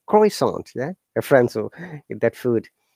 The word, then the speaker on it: croissant: those people pronounce and how we pronounce like croissant yeah reference or that food prasant yeah in english they saw france people's chromosome within through nose but we don't use nose generally say croissant yeah similarly many other words at the part